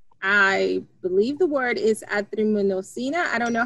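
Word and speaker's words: azithromycin: She was prescribed, I believe the word is azitromycina.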